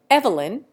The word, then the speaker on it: Evelyn: Evelyn, in England, is given 2 syllables instead of 3, and the first is made to rhyme with leave.